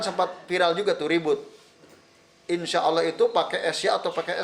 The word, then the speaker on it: insya Allah: Bukan SH insha. Bukan. Kalau SH itu sod dalam bahasa kita loh. SH itu sod. Maka masa insya Allah. Bacanya kan jadi gitu kalau di dalam bahasa Arab, kalau di SH kan. Jadi yang betul insya Allah. Tulis bahasa Latin INSYA. A-nya panjang ya, insya Allah.